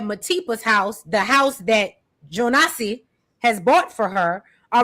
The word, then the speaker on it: Jonas: I think Africans are pronouncing it Jonas. Call him Jonas. American is Jonassss.